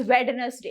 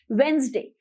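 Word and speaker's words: Wednesday: सो now next one इज जो कि हम अक्सर प्रोनाउंस करते हैं, which is वेडनेसडे. इट इज नॉट वेडनेसडे. जो डी की साउंड होती है वो हट जाती है. इट इज वेंसडे, वेंसडे.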